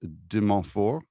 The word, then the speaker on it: De Montfort: In 2002, Professor Lambourn was fortunate to receive a postdoctoral scholarship at, and I'm going to mispronounce this, de Montfort? Yes. Montfort? It's English, right? So de Montfort? De Montfort University, yeah.